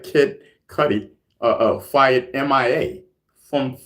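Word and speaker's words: Cudi: C U D I is pronounced Cuddy.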